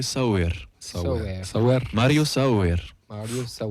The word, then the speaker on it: Sauer: Mario Sauer, je pense Sauer. Alors, Sauer. d'après Google Trad, ça se dirait Sauer.